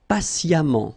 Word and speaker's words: patiemment: Patient, and then patiemment. So as I told you, even if you write it E-M-M-E-N-T, phonetically it goes like amant, patiemment.